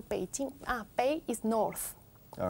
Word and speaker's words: Beijing: Beijing. Con P, más que con B. Beijing. Beijing, okay. And ask her what Beijing stands for. What does Beijing stand for? Beijing, I don't know why they call Beijing.